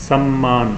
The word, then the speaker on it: सम्मान: शब्द है सम्मान मैं यहां पर आधा मां और पूरा ना जोड़कर लगे हुए हैं जिससे इसका उच्चारण है सम्मान का सम्मान शब्द आपने